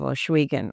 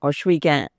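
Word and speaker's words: Ohsweken: a hub in the community of oswan or Igan as our people pronounce it meeting of four paths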